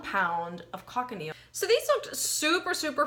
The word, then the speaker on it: cochineal: So I looked it up, and carmine is actually what's called, I think it's pronounced cochineal.